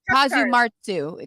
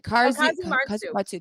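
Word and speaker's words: casu marzu: Now, I'm so sorry that I butchered the name. It's Kazumatsu. Kazumatsu.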